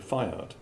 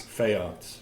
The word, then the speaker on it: Feyaerts: to introduce uh Fiard. Am I pronouncing your last name correctly? No, but doesn't too much. Let's clarify. How should I pronounce your last FATS? Fearts. Fearts.